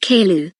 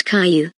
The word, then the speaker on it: Caillou: And you pronounced Caillou wrong. It's not Kaou, it's Caillou.